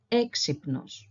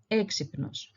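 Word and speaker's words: έξυπνος: happens that the the first letter of this word is a vowel it is a and it also happens to be be the place where we accent the word where we stress it so this would be exynos exynos so in this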